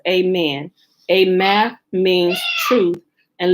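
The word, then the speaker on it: aman: man a-m-a-n means truly usually perceived usually pronounced amen a math means truth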